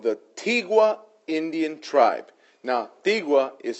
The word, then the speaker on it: Tigua: Now, Tigua is spelled T-I-G-U-A, Tigua Indian tribe.